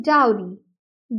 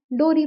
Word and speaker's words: dowry: में डिवाइड किया है the first one इज डी ओ डब्लू जिसको डाउ जैसे प्रोनाउंस किया जाता है और आर वाई को एस आर आई प्रोनाउंस किया जाता है री मतलब डाओरी डाओरी लेकिन कई लोग इंडियन सोसाइटी में इसको एस डोरी प्रोनाउंस करते हैं मतलब वो डब्लू को प्रोनाउंस नहीं करते हैं और उसकी प्रोनंसिएशन की